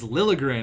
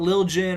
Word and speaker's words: Liljegren: and how you props his name is Liljegren not lil jin or however I was pronouncing its Thomas Liljegren I hope I'm pronouncing